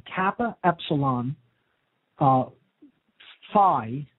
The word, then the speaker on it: Phi: spelled Kappa Epsilon uh Phi which is how it's pronounced many people say fee uh Alpha Lambda Ada